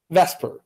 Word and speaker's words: VSEPR: theory that's VSEPR and so of course we pronounce that Vesper which you will note is not the way